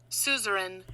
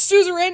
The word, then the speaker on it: Suzerain: yes i had to look up how to pronounce this and guess what suzerain i was right yes thank you google i